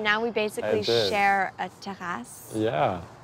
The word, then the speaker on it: terrasse: And now we basically share a terrasse. Yeah. I have to pronounce it like that in Montreal. A terrasse. Terrace.